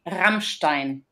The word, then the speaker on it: Rammstein: as du hast what's the proper way of pronouncing that band's name can you help me out that's actually Rammstein I'm do I have to like really press